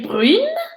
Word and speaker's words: brun: cheveux, alors elle est brune et il est brun. Répétez: brune. Brune. Brune. Brun. Brun. Brun. -Brun. -Brun. Très bien, so the N doesn't get pronounced, for the nazane masculin,